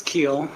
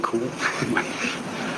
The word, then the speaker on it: Keel: Is it Keel or Cool? It's Keel. My children like to say Cool.